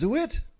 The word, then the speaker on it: DeWitt: fantastic name yeah um is your last name pronounced do it or do dewitt it is pronounced do it do it okay do it but like do it as it is so it is okay